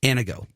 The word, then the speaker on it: Anago: Anago. That's exactly what I said. It's a Latin Greek word that means to uplift. Exactly.